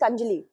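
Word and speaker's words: Kanjli: this so we have this is not kanji this is kanjali it can be pronounced as sponjali kanjili okay so inside mansar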